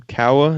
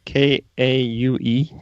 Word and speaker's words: Kaue: you pronounce his name Kawa. It's Kaue.